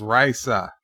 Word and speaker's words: Risa: 22 Raisa and yes I realize it's spelled the same the same as the human name Risa but no this is Raisa as in the planet from Star Trek because we are making